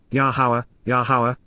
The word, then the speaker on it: Yahowah: Nifil perfect, subject alone is affected by approaching at this moment, himself moving toward, Yahowah, the proper pronunciation of Yahowah, our Eloah, God as directed in His Towrah, teaching regarding His Hayah, existence and our Shalom, restoration.